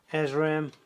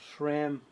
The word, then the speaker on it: SRAM: are now owned by uh azram or sram as the americans say yes yeah i got